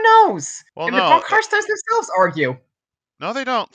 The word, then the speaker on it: von Karstein: Oh yeah, if they pronounce it von Karstein, they kill you. It's von Karstein.